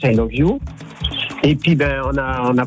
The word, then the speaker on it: Iluvu: D'accord, ça se prononce I Love You.